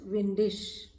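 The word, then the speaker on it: windig: If it is windy, it will be es ist windisch. Here you just understand, if suppose ig comes at the end of any word, it will be sure. It is pronounced as sure.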